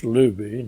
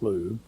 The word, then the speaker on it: Lube: And let's see, he's got I should uh pronounce the name right. It's Lubby, not Lube.